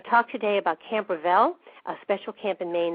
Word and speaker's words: Reveille: Did I pronounce that correctly? It's Reveille.